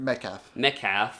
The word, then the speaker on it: Metcalf: But Laurie Metcalf, am I pronouncing that correct? Metcalf.